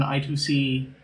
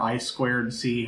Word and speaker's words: I2C: I'm going to be replacing this composite display with a probably with an I2C or I2C, however you want to pronounce it, one of those